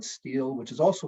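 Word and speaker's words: stele: called the mesha steel this s-t-e-l-e is a monument with inscriptions that's pronounced in different ways but I'm going to call it steel which is also called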